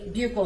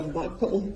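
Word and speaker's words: buccal: Now, um can you tell the jury what a bugle swab is? So, a bugle swab or a buckle swab, depending on different people say it different ways. It's spelled B U C C A L.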